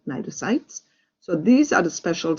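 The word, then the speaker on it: cnidocytes: special cells that's called nitrocytes all right we don't pronounce the c so you say n nitrosites so these are the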